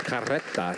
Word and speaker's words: carreta: Mina, these words have been anglicized, so in authentic Espanol, that's carreta. You have the Right. roll of the R's that tells you there's two.